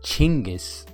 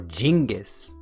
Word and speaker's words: Chinggis: It's pronounced Chinggis or Genghis.